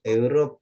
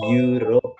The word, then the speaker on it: Europe: Eropa tuh bahasa Inggrisnya Europe ya, bacanya bukan Europe tapi you ya, Europe gitu.